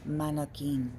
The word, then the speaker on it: Marroquin: Marroquin, just so you know, right? Marroquin. Marroquin. You got to roll your R's.